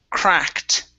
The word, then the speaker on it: cracked: Okay, this is going to be cracked instead of a cracked beak. Okay, cracked, a cracked beak. A cracked beak. Okay, give me a T sound, cracked.